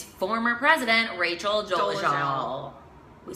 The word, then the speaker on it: Dolezal: Dolezal, not Dolezal.